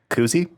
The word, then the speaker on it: koozie: and turns out it's called a koozie Koozie like Uzi Uzi like Oozy yes okay yeah and